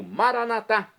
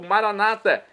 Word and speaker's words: maranatá: E agora eu clamo maranatá, como dizemos nós católicos, ou maranata, como dizem nossos irmãos separados, os evangélicos ou protestantes, não importa a pronúncia, o significado é o mesmo.